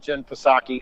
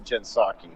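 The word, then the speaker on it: Jen Psaki: i uh i love what jen fosaki and yes i know it's actually jensaki so no sorry anyhow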